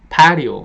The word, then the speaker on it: patio: 어쨌든 단어 하나를 얘기하더라도 전체를 patio 이렇게 발음하시면 얘네들이 못 알아듣습니다. 그냥 patio 하는 겁니다. 그러니까 첫 번째 강세가 있다고 말씀을 드려요.